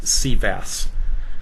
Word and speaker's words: CVAAS: long name and so we tend to pronounce our acronym we call ourselves sea bass okay there's a lot